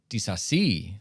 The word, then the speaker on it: Disasi: Goals, 18th minute from Luis Diaz, Mohamed Salah with the assist, 37th minute, Axel Disasi, which we learned is the pronunciation.